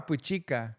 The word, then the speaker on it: Puchica: Is it Puchica or Puchica? Puchica. Puchica. Puchica. I It's like one syllable.